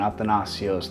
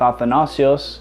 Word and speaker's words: Athanasius: Saint Athanasius the great in English the word is pronounced at the nation's my friends asked me why I went with Athanasius instead of athenais shoes I said because well the nacio sounds cooler here are three things